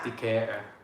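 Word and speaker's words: Decatur: It's Decator."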